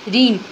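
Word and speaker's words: rein: ठीक है नेक्स्ट है रीन अब ये भी रीन है ये भी रीन है दोनों एक्चुअली में होमोनिम्स वर्ड है प्रोनंसिएशन सेम है मीनिंग डिफरेंट है स्पेलिंग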